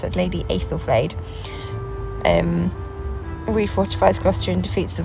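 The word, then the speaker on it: Æthelflæd: So this is what I said, Lady Aethelflaed. I think that's how you pronounce it, Lady Aethelflaed.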